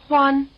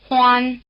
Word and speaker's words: Huān: For example, we could build up to the surname "Huān", by starting from the full name - surname and given name: Hū Ān Listen. Hū Ān, Huān Again Try repeating after the speaker.